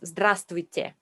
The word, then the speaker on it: Здравствуйте: Another difficult bit is consonant clusters. It's many more consonants together. And that can be a real tongue twister. You see them straight away in the first lesson because the first word you learn is hello, a nightmare to pronounce.